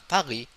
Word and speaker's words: Paris: Paris is in French we pronounce Paris, Paris. There's no S. There's no S sound.